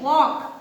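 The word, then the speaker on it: walk: See here, वॉक, L is silent.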